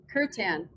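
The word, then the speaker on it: kirtan: Angela sorry Angela what how do you say that word say it curt kan okay I Yeah.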